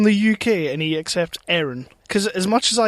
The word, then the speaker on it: Aaron: we still have um is it Aaron or as the Americans pronounce it Aaron it annoys me um well I I